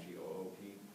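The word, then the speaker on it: geup: You start from 10th Goop, which is spelled G-E-U-P, not G-O-O-P.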